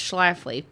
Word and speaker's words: Schlafly: It's Schlafly, but you can pronounce it however you want.